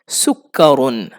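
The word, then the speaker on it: سُكَّرٌ: সুকারুন। ইংরেজিতে সুগার বলে তাইতো সুগার আর আরবিতে সুকারুন সুকারুন সুকারুন কাফের উপর তাশদিদ আছে দুইবার উচ্চারণ করতে হবে একবার সুকারুন মানে কি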